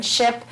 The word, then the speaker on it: SHIP: your program, and again, SHIP is the pronunciation of the acronym that is meaning the State Health Insurance Assistance Programs.